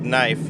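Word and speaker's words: Knief: I first saw that I saw it as neif because it's spelled like knife except the letters are scrambled so it made sense that it would be neif it's not neif it's knif which makes no sense kenif it's like kif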